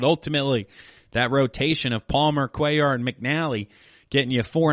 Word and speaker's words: Cuellar: Blue for the Athletics I think I said Vida in past episodes but Vida blue he'll go against Mike Cuellar so this was a battle of the mispronunciations for myself in past episodes Vida Blue vs Mike cular well it's Cuellar so thank you to the listeners out there who interacted with the show online on social media helped me out with the correct pronunciation there so we got game